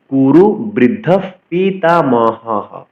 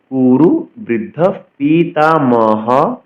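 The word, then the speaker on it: কুরুবৃদ্ধঃ পিতামহঃ: সঞ্জ নয়ন হর্ষম আট পরবর্তী অংশে কুরু বৃদ্ধ পিতামহ কুরু বৃদ্ধ পিতামহ বিসর্গের জন্য হ উচ্চারণ হল কুরু বৃদ্ধ পিতামহ দেখুন বিসর্গের জন্য হ উচ্চারণ করেছি হ স কিন্তু অক্ষর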